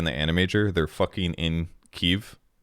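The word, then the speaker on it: Kyiv: guys I appreciate it keev is how they pronounce it so that's why I say keev that's all Octan prism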